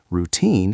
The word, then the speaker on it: routine: Routine has the stress on the second part.